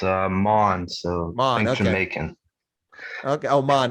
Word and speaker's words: Maughan: you pronounce it mao is that how it's pronounced or it's uh mon so mom jamaican okay oman or well okay